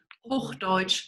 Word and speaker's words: Hochdeutsch: There was a question in the chat about if everybody speaks, I'm going to mispronounce this, Hochdeutsch? Hochdeutsch.